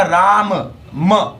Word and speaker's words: Rama: Same है राम, बड़ा छोटा सा नाम है RAM, लेकिन सही तरीके से बोला जाए तो वो होगा राम म, पूरा बोला जाएगा तब।